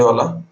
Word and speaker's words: Zhu: जू का, ठीक है, ZHU, चाइनीज में वू बोलते हैं, ठीक है, जू। लोकल लैंग्वेज मेरा प्रोनाउंसिएशन के हिसाब से मैं यहाँ पे जू बोल दिया, ठीक है।